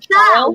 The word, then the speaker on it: chile: Woo child, because that's how it's pronounced. Child. So when it's written, it's spelled like the country of Chile, but whenever I heard it on TV, they always said child. So I always just pronounced it that way, but apparently this person hasn't read a book.